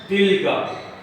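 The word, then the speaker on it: تِلْكَ: नीचे आते हैं, यहाँ पे लिखा है तिल का, यहाँ पे लिखा है तिल का, तिल का। इसका प्रोनाउंस इंग्लिश में तिल का, meaning that, but this is for female.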